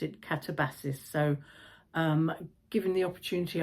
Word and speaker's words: Katabasis: Um, first of all, a note about the pronunciation. I asked Google and Google suggested catabosis. Uh, but then I heard Mary Beard talking about it and she pronounced it catabassis.